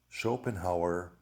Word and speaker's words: Schopenhauer: done my homework and the correct pronunciation is descartes spinoza leibniz schopenhauer and hegel so i'm letting you